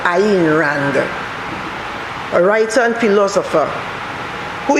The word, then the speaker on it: Ayn Rand: her pen name was ayn rand a y n pronounced iran a writer and philosopher